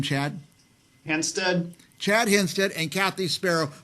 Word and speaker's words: Hanstedt: how do you say your last name Chad henstead Chad henstead and Kathy Sparrow where are you